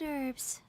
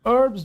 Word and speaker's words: herbs: I came to collect herbs. Lots of them. And Dr. Baiju came too. हाल इसको herbs बोलते हैं और H silent है